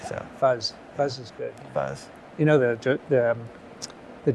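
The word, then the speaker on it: PhuZ: based that's F right how do you pronounce fuzz F call it fuzz yeah what does it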